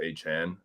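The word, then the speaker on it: Achane: he was like by the way it's like pronounced aan um so I I have to say like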